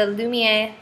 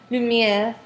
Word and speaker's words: Lumir: to review is the lumier I'm sorry I keep saying it wrong lumir um changing pad so